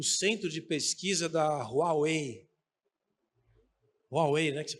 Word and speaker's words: Huawei: Huawei, né, que se pronuncia?